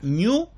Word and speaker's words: GNU: género cuando le preguntaron cómo se pronuncia esto se pronuncia new porque el símbolo en